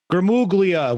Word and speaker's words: Gramuglia: Gramuglia. We talk about the silent G every time we talk.